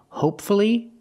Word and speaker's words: hopefully: why is it different the first word hopefully the stress is on the first syllable and there's only one syllable before Fu l l y if there's only one syllable before f l l y I pronounce the U hopefully and now we look